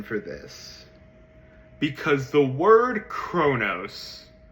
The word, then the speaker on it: Kronos: people's interpretation of Kronos, I'm going to call him Kronos because that's how they say it in the Percy Jackson movies, and that is what I was raised on and what I think sounds best.